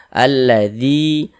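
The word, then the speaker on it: الذي: Alladzi, zi dibaca panjang.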